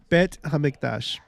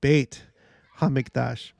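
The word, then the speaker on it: בית המקדש: let's find out okay the Holy Temple in Hebrew bet hamiktash yeah yep oh sorry sorry pronounced bait hamidash so yeah Joseph Smith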